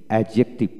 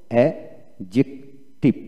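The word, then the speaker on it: adjective: লক্ষ্য করুন, ওয়ার্ড এর মধ্যে ডি জে বা ডিজি পাশাপাশি থাকলে ডির উচ্চারণ হয় না। যেমন ADJCETIV অ্যাডজেক্টিভ, অ্যাডজেক্টিভ এখানে অ্যাডজেক্টিভ নয়, অ্যাডজেক্টিভ। লক্ষ্য করুন এখানে স্পেলিংটা কীভাবে হবে, অ্যাডজেক্টিভ, অ্যাডজেক্টিভ উচ্চারণটা কী হবে, অ্যাডজেক্টিভ।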